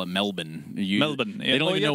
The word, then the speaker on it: Melbourne: Only people outside of Australia pronounce the full, like the actual letters of that city.